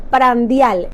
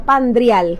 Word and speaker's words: prandial: La palabra término prandial, así se dice, no pandrial, como muchos creíamos.